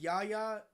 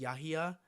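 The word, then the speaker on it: Yahya: Um, or Yaha, I think that's how you pronounce his name. Me and my sister were looking that up earlier. Uh, how to pronounce his name. Um, I think it's pronounced Yaha.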